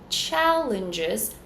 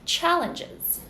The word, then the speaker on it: challenges: in GJ CH again I have the schw and then the z sound challenges first syllable is stressed challenges next word we have